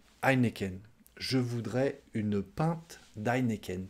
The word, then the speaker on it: Heineken: suivante emma au quesnoy c'est presque pareil en français sauf que vous vous prononcez le hb du début nous on dit juste heineken heineken je voudrais une pinte